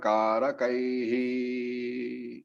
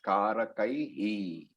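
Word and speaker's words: कारकैः: So the pronunciation is Karakaihi. Not Karakai. It's Karakai. Why is that so? Why is the pronunciation as Karakaihi? Because the I is a, it ends with E. I. Karakai. It ends with Karakai and therefore Karakaihi.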